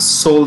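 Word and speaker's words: Seoul: let's go to south korea where we have soul stock exchange the e is silent it is sold okay so it's cos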